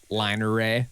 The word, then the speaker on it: line array: word oh like l-i-n-e-r-a-y line array yeah like you because whenever you say it you say it like it's one word yeah but it's line array yeah and that was